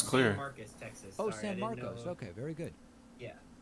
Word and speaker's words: San Marcos: ] it sounds clear San Marcos okay very good yeah sorry I'm super white so I always pronounce it San Marcus um no so my